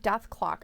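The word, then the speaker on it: Dethklok: Ayla says it's pronounced Death Clock.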